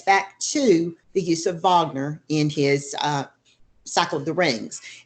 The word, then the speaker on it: Wagner: now about the German opera and the composer vogner it spelled WAG NER but it's pronounced for the VAE that's the way German